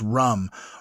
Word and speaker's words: ram: You can chant a mantra which is the same as the last one as lamb, but you you say it with an R. Ram pronounced rum.